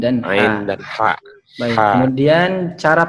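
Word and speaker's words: ح: Ain dan ha. Baik. Ha. Kemudian cara pengucapan seperti apa, Pak Sirun? Cara pengucapannya untuk huruf ain tidak mengeluarkan suara nafas.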